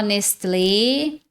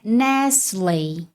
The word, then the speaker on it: Nestlé: No português muita gente fala nestle, nestlé, tá? Só que no inglês a pronúncia é Nesley. Nesley. Nesley. Esse T aqui é mudo.